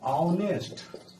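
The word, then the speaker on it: honest: लेकिन यहाँ देखिए, यहाँ इसका उच्चारण निकालिएगा ऑनेस्ट, ऑनेस्ट, ऑनेस्ट।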